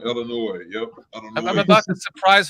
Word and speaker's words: Illinois: As the people who are not from here pronounce it. here. Right. They say the S on Illinois.